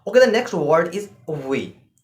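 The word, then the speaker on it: wir: you very much okay the next word is v v in English and in German we said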